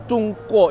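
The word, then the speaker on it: 中国: Sementara kalau Go itu orang melafalkannya kayak K ya, Ko, kayak kalau di apa huruf Latin atau pinginnya Zongguo tapi bacanya Cungko, jadi kayak K ya.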